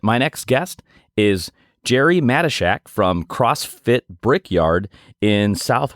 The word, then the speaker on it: Matyschsyk: on this segment my next guest is Jerry mesak from Crossfit Brickyard in South Windsor Connecticut Jerry